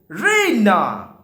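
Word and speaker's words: Raina: রেইনা, সে প্রনাউন্সেস ইট রেইনা, সে এইরকম ভাবে প্রণাম করছে। উচ্চারণটা একটু আলাদা হবে যেহেতু ব্রিটিশ, ওরা এমনি ইউরোপিয়ান। ঠিক আছে, উইথ দ্য স্ট্রেস অন রে, ইয়ের উপর বেশি, রেইনা, রাইট?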